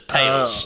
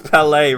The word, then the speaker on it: Palais: As Pales. Okay. Oh. I've Yes, the relationship with Palais. It's Palais, rhymes with ballet.